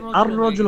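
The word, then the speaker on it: الرجل: চাই তখন দেখব যে আর রজুল হয়ে গেছে লিখার ক্ষেত্রে ঠিকই আসছে কিন্তু আমরা আলিফটা দিয়ে সরাসরি র কে ধরে ফেলছি এবার কিছু এবার কিছু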